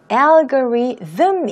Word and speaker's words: algorithm: 영어로는 algorithm 이어서 여기 보시는 것처럼 th가 들어가 있어요.